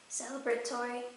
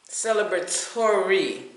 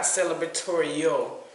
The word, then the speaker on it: celebratory: Celebratory. Celebratory, not celebratorio. Yeah, that's not a word. So I added on an extra syllable.